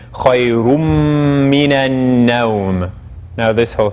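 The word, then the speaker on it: خيرٌ: It's originally khayrun, but then the noon gets absorbed into the meme, so the way we pronounce it is khayrum minan nawm.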